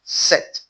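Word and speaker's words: sept: In the word set, even though there is P between the E and the T, it is silent. It's pronounced set, set, set.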